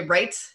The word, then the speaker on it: REITE: from there so um and by the way right club is how you pronounce it it stands for real estate investing